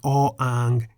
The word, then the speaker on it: อ อ่าง: The Thai consonant อ อ่าง is a consonant that is always silent as an initial consonant.